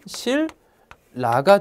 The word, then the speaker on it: 신라: 자, 신라지만 발음을 하면 실라가 됩니다. 니은이 역시 리을로 변했습니다.